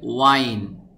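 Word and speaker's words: whine: ওয়াইন ঘ্যান ঘ্যান করা, শব্দটির উচ্চারণ হবে ওয়াইন ঘ্যান ঘ্যান করা, উইসেল বাঁশি বাজানো,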